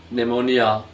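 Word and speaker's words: pneumonia: निमोनिया, ये पी एन ई की मिसाल है।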